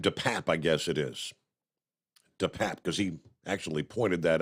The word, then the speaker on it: DePape: DePape, because he actually pointed that out to the court this past day. How to pronounce his name, I believe.